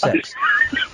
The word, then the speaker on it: CeX: It's pronounced sex and it's pronounced sex.